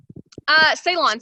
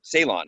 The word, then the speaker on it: Ceylon: So maybe like I'm looking at it right now, but is it pronounced Ceylon cinnamon? Ceylon cinnamon. Yeah. Ceylon.